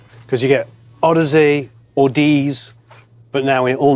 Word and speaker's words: Audeze: So AUD for audio, Yeah. and then EZE became the way to finish the Audeze journey.